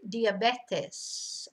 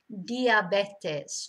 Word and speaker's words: diabetes: uh spanish they say diabetes okay it's all in the vowels you know the vowels are so different in spanish diabetes not diabetes or especially